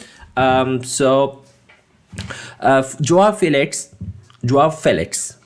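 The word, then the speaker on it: João Félix: so uh joa Felix dwarf Felix to pronounce him correctly he managed a golf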